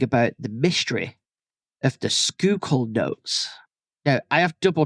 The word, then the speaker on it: Schuylkill: to be talking about the mystery of the Skoal notes now I have double checked this skookul is the correct pronunciation of this word it is actually spelled